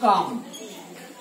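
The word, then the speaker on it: calm: इसे शांत रहो, keep काम, सी एल एम काम एल साइलेंट है, इसलिए कहते शांत रहो, मुझे ये कठिन लगा, क्या होगा I find it difficult.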